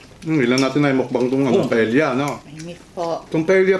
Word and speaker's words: paella: Ang pronunciation po paella. Mare. Kasi Spanish.